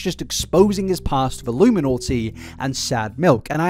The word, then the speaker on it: iilluminaughtii: And I am aware that I do keep saying iilluminaughtii, and I know a lot of people are probably going to get mad at me. I don't care. It's the correct pronunciation. It's in the spelling.